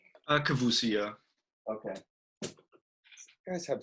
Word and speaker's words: Kavousi: Now, again, your last name is pronounced Kavousi, right? Kavousi, yeah.